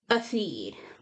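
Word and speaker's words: Éothéod: If we're going to pronounce it Earl, that's how I would pronounce this. Is Atheed, because Earl is EO and the beginning of this is EO. So I would use the same pronunciation for that EO, the Right.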